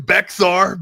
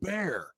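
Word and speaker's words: Bexar: And man, you're I was saying Becksar Beexar County.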